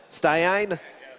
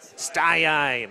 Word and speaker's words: Staiain: to say your name how do I pronounce that sine sine okay good otherwise I'm